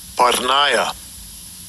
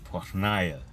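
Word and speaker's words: πορνεία: Partniah. Partnia. Pornia. Sounds just like pornography or porn.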